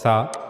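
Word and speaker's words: ث: in Caesar's thumb and that's how we will pronounce ta ta ta and then we read about sa that's similar to ta just a little difference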